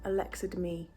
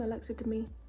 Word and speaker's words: Alexa Demie: to be attempting that Alexa to me is how you say her name Alexa to me I'm gonna be attempting